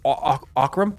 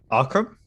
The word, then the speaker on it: Aurorum: She also will, you have Aurorum. I keep wanting to make sure to say his name like Auroram's razor.